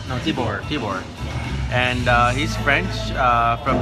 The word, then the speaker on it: Thibaut: and how do you say your name no Tibor keyboard and he's French from a very interesting